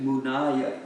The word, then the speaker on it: munaya: It's, I think Munaya, but let me find the word here first. Yeah, it's Munaya, Mu, Nayah, with a dot under it, but we don't pronounce the ha. So just Munaya.